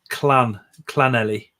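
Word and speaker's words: Llanelli: Unusual pets has put Lanelli, which is clanelli, because 2 hours met the clan, don't they?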